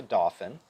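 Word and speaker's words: Dauphin: one this is a dolphin an aerospacial dolphin and spelled d-a-u-p-h-i-n so i can't quite say it right but um coast guard uses these kind of cute because it sounds like dolphin right um so a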